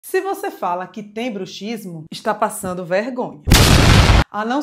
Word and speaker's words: bruxismo: Se você quer se referir ao ato de ranger os dentes, é bruxismo. Você deve pronunciar assim como pronuncia táxi.